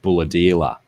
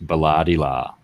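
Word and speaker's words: Bulahdelah: way to Sydney called Bulladila. But the way it's spelt, people read it Balladila.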